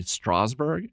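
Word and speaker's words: Strasberg: And I was really not surprised but shocked to find that like Jeffrey had taken acting classes at Lee Strawber.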